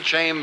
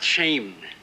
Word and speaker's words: Chaim: Well, congratulations to you, Chaim Baumel. Excuse me. It's not shame. It's not came. It's pronounced Chaim.